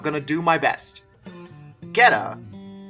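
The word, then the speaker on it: Getå: Gheta, which I'm almost positive is how you say it, is a town that's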